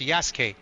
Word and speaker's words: Yasuke: But in Japanese, they they don't pronounce the U. It's just Yas.